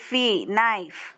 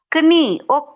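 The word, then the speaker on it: knee: So Naib next word not கினி நீ ஒக்குனி நோ நீ only நீ பட் கே is there K இருக்கும் ஆனா கே நாங்க கூப்பிட மாட்டோம் அங்க கே வேணாம் எங்களுக்கு அதுல எழுதுற நேரம் கே எட போடுவோம் பட் விஹவ டு ப்ரனௌன்ஸ் தட் நீ அவ்வளோதான். நெக்ஸ்ட் ஒன் நாக் நாட் கனக் அப்படி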